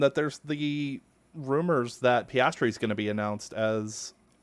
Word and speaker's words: Piastri: On the same weekend that there's the rumors that Piastri's going to be announced as one of their drivers next year.